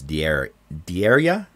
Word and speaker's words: Dierya: it the Dierya, and there's no K in there, so it's Dierya.